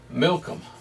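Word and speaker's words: Milcom: of this one was milkham milkum almost sounds like malcolm interesting but there was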